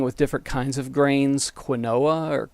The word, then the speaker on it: quinoa: some beans experimenting with different kinds of grains quinoa or quinoa is one of the ones i think it's spelled q-u-i-n-o-a that i've been enjoying and also